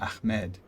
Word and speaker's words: Ahmed: what and so um i have a hard time pronouncing the name ahmed um like i think i did it pretty well that time but sometimes it's it's like i get a bit too much of a k sound in it um well so k